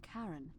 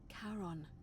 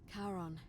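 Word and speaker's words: Charon: name you heard wasn't Karen it was c h a r Heron as in Caron the ferryman of the Dead karon who in exchange for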